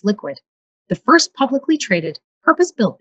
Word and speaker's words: LQWD: with sean anstey founder and ceo of lqwd pronounced liquid the first publicly traded purpose-built bitcoin company that's